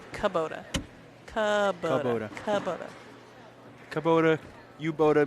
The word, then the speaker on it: Kubota: Chat's correcting our pronunciation. It's Kabota.